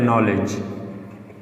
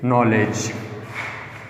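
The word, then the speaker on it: knowledge: इसमें डी और ई बिल्कुल भी प्रोनाउंसिएशन में ये हम इसकी वॉइस नहीं निकाल सकते। अब ये वर्ड्स में अगर मैं एग्जांपल दे देता हूँ, for example bridge, BRIGE, bridge, and FRIDGE, या एक मशहूर एग्जांपल है नॉलेज। इसमें भी DGE, इसमें भी DGE। तो इसकी सिर्फ आवाज़ निकलेंगे जी का।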